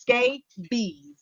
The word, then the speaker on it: scabies: is a skin condition and it's pronounced skate bees all right now it's